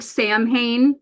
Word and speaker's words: Samhain: It looks Yeah. like Samhain, like Samha. It's pronounced Samhain.